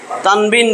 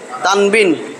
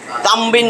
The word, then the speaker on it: তানবিন: 2 জবর 2 জের 2 পেশকে তানবিন বলে, তানবিন। এটা কিন্তু উচ্চারণ তান বিন, তামবিন না, তান বিন, তানবিন।